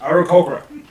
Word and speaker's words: Aarakocra: It's pronounced Aarakocra.